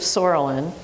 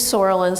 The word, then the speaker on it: psoralen: So one thing we could talk about is the use of psoralen. I know it starts with a P, but the P is silent. And you use Sorolin sometimes.